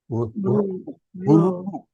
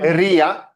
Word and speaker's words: ऋ: Ru. Not Riya. हाथ जोड़ के विनंती करता हूं कि please those who are North Indians, please do not pronounce this alphabet as Ri. It is Ru.